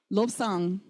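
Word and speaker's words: བློ་བཟང: That ba that was silent suddenly becomes sounded.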